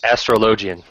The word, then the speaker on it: Astrologian: And help me out with the pronunciation, because... Astrologian.